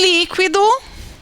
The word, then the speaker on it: líquido: Em líquido, nós temos líquido. Mas a sílaba tônica é o li, ok.